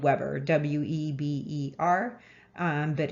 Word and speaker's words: Weber: marx emile durkheim and max weber spelled weber w-e-b-e-r um but it's pronounced weber and so um durkheim weber and